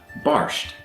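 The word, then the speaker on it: bàrd: And in Gaelic, it's actually spelled the same, but is pronounced very differently. So in English, we have bard, meaning a poet, and then in Gaelic, we have barsht, which also means a low-ranking poet.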